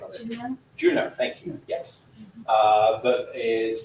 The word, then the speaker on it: Juno: Juno, thank you, yes.